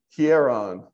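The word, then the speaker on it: ἱερόν: pronounce it again yes here on well then H sound yes yes because got a rough breathing mark on it so oh okay hey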